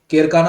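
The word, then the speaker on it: Kerkennah: से एक है एक्चुअली केरकाना आइलैंड, केरकेना आइलैंड इसको कहा जाता है, केरकेना आइलैंड, प्रोनाउंसिएशन उसका केरकेने है, और दूसरा है जेब्रा आइलैंड।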